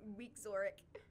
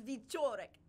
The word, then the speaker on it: Wieczorek: She's like, actually, that's pronounced with a V. Yeah. Oh. He was pronouncing it Wieczorek, and it's Wieczorek.